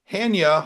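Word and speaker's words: Chania: So this is a picture of Hania Hospital. In Greek, the C is silent. Hania. And this made it into the newspapers.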